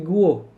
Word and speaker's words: guyot: Nah, ini bukan guyot ya bacanya, tapi guo. Guo adalah gunung bawah laut yang terkikis dan terendam. Jadi gunung tadi ya Simon yang terkikis, itulah yang kita sebut sebagai guo. Ya, jangan baca guyot ya. Ini bahasa Perancis soalnya bacanya adalah guo.